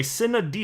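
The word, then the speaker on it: sine die: it was but anyway cinnadi is how it's pronounced and um and so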